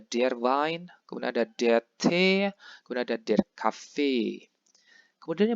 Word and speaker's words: Tee: Kemudian der Tee, itu bacanya bukan T, melainkan T, E-nya panjang.